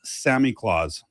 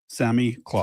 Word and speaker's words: Samichlaus: So, it's pronounced Samichlaus. Samichlaus. Sami What is this? Samichlaus. Yeah, no, no, I get it. Samichlaus.